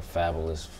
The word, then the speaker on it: Fabolous: And I was saying fabulous, like to rhyme with vocabulous, just wordplay stuff.